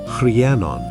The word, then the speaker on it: Rhiannon: When he returns, he meets Rhiannon, pronounced Rhiannon, a woman on a